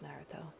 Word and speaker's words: Naruto: I think it's actually pronounced Naruto.